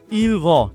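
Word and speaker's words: ils vont: এক্ষেত্রে দেখেন কোনো লিয়াজো হয়নি, এস এর কোনো উচ্চারণই হয়নি, কারণ ভি হচ্ছে কনসোনেন্ট। ইলভ তারা যায়, ইলভ তারা যায়।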